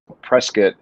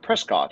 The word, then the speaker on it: Prescott: a few times and originally i was like prescott and they were like no it's prescott i was like oh